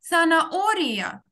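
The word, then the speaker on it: zanahoria: Наголос на О, тому що це і А, це як один склад. Занаорія.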